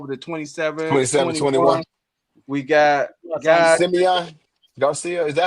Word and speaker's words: Simeon: I think it's Simeon. Yes. I'm sorry. I've been calling him Simon all night. Yeah. CDE. But we from Chicago. That's pronounced Simeon.